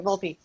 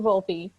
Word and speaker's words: Volpe: VOLPE. VOLPE. Okay, VOLPE. I'm gonna get it by the end of the session. Each year, we offer substance abuse training workshops for Missouri transit providers through VOLPE.